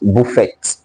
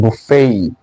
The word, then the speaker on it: buffet: Then this, I was saying, this is not pronounced buffet. First of all, the T is even silent. So it is pronounced buffet, buffet, buffet, buffet. A. It has the diphthong A.